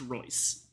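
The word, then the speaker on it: Reuss: Eric Royce, uh, spelled R E U SS but pronounced Royce, who according to, uh, hold on, let me, let me check pronouns.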